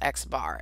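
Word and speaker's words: x̄: If I say Xbar, see that X with a line above it? That's pronounced Xbar.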